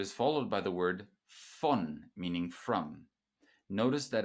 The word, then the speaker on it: von: This word is followed by the word von, meaning from. Notice that a V at the beginning of a word in German is pronounced like an F.